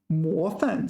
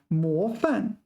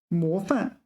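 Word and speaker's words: 模范: 模范. Sorry, I mispronounced it. 模范. 模范.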